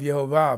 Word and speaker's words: Jehovah: points in them and those vowel points are all pronounced without exception as Jehovah so that's why I say Jehovah instead of Yahweh now he revealed anyway